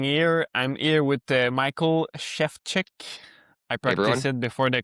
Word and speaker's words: Szewczyk: I'm here with Michael Shevchek. I practiced it before the call. Uh so that's the right pronunciation.